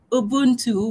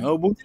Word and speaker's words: Ubuntu: We do have it in our culture, what we call Ubuntu, which I've just mispronounced because I don't know the proper pronunciation. But we could. Ubuntu is the right one. Thanks a lot.